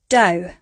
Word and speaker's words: dough: Next up we had o, although, dough. The 5th example of how we can pronounce this spelling is oo, through.